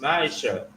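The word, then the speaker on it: מעשר: verse 8 to 10 means 10 in Hebrew and it's pronounced Maisha 10 of every penny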